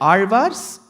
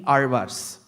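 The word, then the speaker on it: ஆழ்வார்: attempt is only the Azhwars. Even before I get into the word Azhwar, the word Azhwar itself is a task. Because you will have to get the pronunciation of the letter Ra right.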